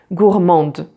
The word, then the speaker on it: gourmande: make it feminine, so you add an E and then the D is pronounced. Donc gourmand, gourmande. Donc gourmand for the masculine, gourmande for the feminine, and there you pronounce the D.